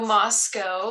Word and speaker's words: Moscow: science in dietetics so moscow is one of the cutest little towns in idaho it rhymes with let's go and has a population